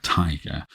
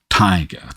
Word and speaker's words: Tyger: line of it is Tiger Tiger Burning Bright that's Blake's spelling by the way we can't say tiger without stressing the first syllable it's tiger not tiger here if we inverted